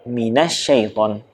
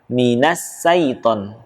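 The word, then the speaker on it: الشيطان: Yang sering terbaca atau beberapa kesalahan adalah menggunakan huruf sin. Contoh, minasyaiton. Minasyaiton. Padahal bukan huruf sin, namun huruf shin. Perbedaannya mungkin dari hurufnya agak mirip ya, namun dari segi sifatnya atau dari cara membacanya tentu ada perbedaannya. Kalau huruf sin menggunakan ujung lidah, sedangkan huruf shin menggunakan tengah lidah. Dan dia punya sifat khusus namanya at-tafashi, angin itu menyebar.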